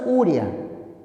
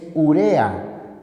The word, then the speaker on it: urea: La palabra no es urea, es urea. Se trata de una palabra grave. Por lo tanto, no lleva tilde. Y ya sabes, no digas urea.